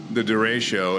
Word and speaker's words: derecho: How do you pronounce that? I never say it right. Yeah, the derecho.